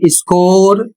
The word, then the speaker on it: score: अगला शब्द एस सी ओ आर ई इसका उच्चारण स्कोर अर्थ अंकों का हिसाब।